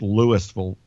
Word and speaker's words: Louisville: But, we've had things since Katrina in a small town, not spelled like Louisville, Kentucky, but pronounced Louisville, Mississippi. And a tornado hit that hospital.